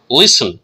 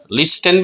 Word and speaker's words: listen: Right, T silent है, टी को पढ़ भी सकते हैं नहीं भी पढ़ सकते, इसको साइलेंट रखना अच्छा है। लिसन, लिस्टन भी पढ़ सकते हैं लेकिन आप लिसन यूज करें, लिसन, लिसन।